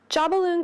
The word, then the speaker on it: Jobbaloon: I am your host Jeanette and I am excited to chat with you today about the Detroit duo Jobbaloon (pronounced ‘JAH-BALLOON’).